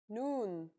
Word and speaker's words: noon: The noon is pronounced just like the English N.